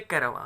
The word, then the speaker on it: caravan: Students, ये अगर हम इसको इंग्लिश ट्रांसक्राइब कर रहे हैं शब्द को तो इसको बोलेंगे कैरावां। राइट, यदि इसको हम हिंदी ट्रांसलेट कर रहे हैं तो इसको कारवां बोलते हैं, काफिले जिसको बोलते हैं।